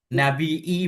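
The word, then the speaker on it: نبي: Hua dianya nabi bil hamdi dibaca dengan hamzah. Nabii boleh watarqihi dan meninggalkannya hamzah. Nabii saja. Jadi nabii boleh pakai hamzah atau enggak pakai hamzah. Nabii seperti di sini boleh dua cara membacanya. Cuma kenapa dibaca dua?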